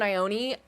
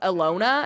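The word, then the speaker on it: Ione: Um, you say I own Ioni. We've had that debate. I thought it was Alona at first or Lona like Alona Mar. Um, but I've been told it's pronounced Ion.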